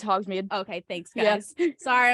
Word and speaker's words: Hogsmeade: Is that how you pronounce Yeah, it? it's Hogsmeade.